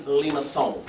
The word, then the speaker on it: limaçon: You've got the rotated hyperbola, and then the last one, the word is limaçon. Limaçon. Say it like you speak French.